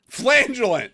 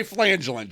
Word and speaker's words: flagellant: it rhymes with maggot flangelist flagellant yeah don't say flangelin Joe hello I'm gonna